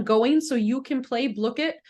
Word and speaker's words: Blooket: so you can play blit I should be saying bluk it I've been saying it wrong for a long time it is blit um and so I'm